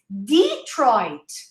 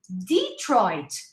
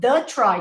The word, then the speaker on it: Detroit: he goes oh okay it's detroit detroit not the try so be very careful